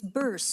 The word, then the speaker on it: Burse: When you first met me, you said, it's burse, it rhymes with purse.